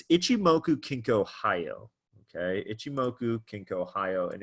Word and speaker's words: Ichimoku Kinko Hyo: it's rare that you hear the full name pronounced but it's Ichimoku kinko hi oh okay itsumo ink Ohio and if you're looking